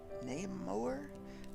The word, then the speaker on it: Naimoer: I picked this one up from Amazon for $8.98, and it's by Namoer, I believe is how you pronounce it.